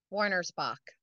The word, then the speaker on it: Wernersbach: Warner Spock. Warner Spock.